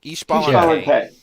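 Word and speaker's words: Xbalanque: Ishbalanque. Yeah. Ishbalanque, yes. So we've had a lot of fun pronouncing that.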